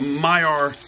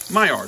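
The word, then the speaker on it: Maillard: happening right now guys it's called the my r reaction my r that's how you say it and that means it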